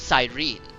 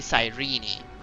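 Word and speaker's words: Cyrene: r e n e I thought was sirene but it's actually apparently sirene so seliosi something like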